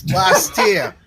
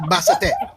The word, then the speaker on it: Bastia: It's Bastia, not Bassate.